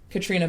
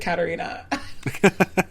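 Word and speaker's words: Caitríona: was talking about um Katrina belf from Outlander and I said her name wrong and I was like I have to fix it it's Katrina not I think I said Katarina that's okay but yes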